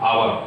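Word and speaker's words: hour: आवर, अब आवर में H silent रहता है, आवर में एच साइलेंट रहता है, और आ से इसका उच्चारण शुरू होता है, तो आ क्या हो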